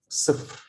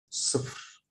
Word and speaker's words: صفر: I have here this small line under the صاد like صفر. صفر. It makes me pronounce it a, not a, because it's under. If I had it above the letter صاد, it would have been ص. Okay, so here it's صفر, صفر, 0, and then واحد.